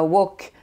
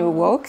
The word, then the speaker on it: woke: Alors l'étymologie c'est difficile, c'est en fait woke, qui ne se prononce pas woke comme un instrument de cuisine, vous savez, mais woke, c'est-à-dire c'est une diphtongue, il y a deux sons.